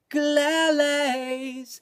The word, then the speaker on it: ukulele: And that long U sound that we all know is the basis of the quirk and the wordplay that makes the song possible.